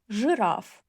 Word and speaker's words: жираф: So, if you read и after ж, ш, ч, and щ, it will sound as ы. Жить, жираф. Шить. Yeah, it sounds like ы, but we always will write и.